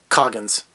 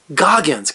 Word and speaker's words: Goggins: three-hour plus movie but I love Walter cogins I'm gonna get his name wrong every time Walter Goggins God why can't I get his name right I've been watching him